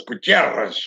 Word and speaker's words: Gutierrez: You got to roll the R. It's Gutierrez.